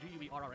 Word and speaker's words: Guerra: It's properly pronounced Guerra, but you're a gringo, so we're not going to go.